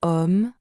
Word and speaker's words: homme: Par exemple, dans hôtel ou homme, le H est silencieux.